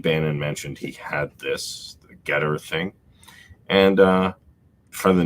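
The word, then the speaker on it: Gettr: that's uh a twitter alternative oh yeah about getter yeah no it's it's uh been waiting for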